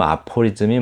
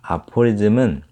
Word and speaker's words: aphorism: 그런데 이제 aphorism, 한마디로 짧게 정의하는 말, 이런 말들을 aphorism이라고 하는데, 읽으실 때는 aphorism이라고 읽습니다. aphorism. 자, 그럼 aphorism이 뭔가? aphorism은 한마디로 짧게 정의하는 거, 이렇게 짧게 뭐는 뭐다 이렇게 표현하는 거, 이거를 아포리즘이라고요.